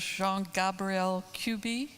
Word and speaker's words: Jean-Gabriel Cuby: Our next speaker is Jean-Gabriel Cuby. Did I pronounce that correctly?